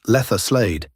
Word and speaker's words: Leatherslade: The gang retreated to Leatherslade Farm, pronounced Letherslade, an isolated property in Oakley, Buckinghamshire, purchased weeks earlier as their hideout.